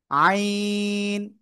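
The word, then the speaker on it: عين: আইন। গলাটা চেপে চার লিপ টেনে উচ্চারণ করতে হবে।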